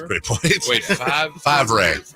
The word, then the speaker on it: Favre: Five. That's a great point. Wait, five? Favre. Favre. The V is silent, dude.